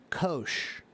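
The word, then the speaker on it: Kocs: K O CS and the pronunciation of that word is kosh.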